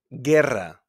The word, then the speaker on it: guerra: And in GUE, like in hamburguesa, guerra, guerra, we don't pronounce the U.